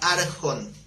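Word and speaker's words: ἄρχων: texto original griego es la palabra arjon como Ricardo Arjona las que estés arjon con acento en la arcor que literalmente significa primero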